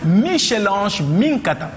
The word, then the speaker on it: Michèle Ange Minkata: c'est normal d'être aussi belle on reçoit donc Michelange Mata tu prononces bien oui bien alors qu'est-ce qu'on peut